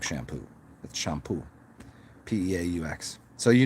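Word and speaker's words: Champeaux: up by peter shampoo and it's spelled shampoo c-h-a-m-p-e-a-u-x not shampoo but it's spelled it sounds like shampoo that's shampoo p-e-a-u-x so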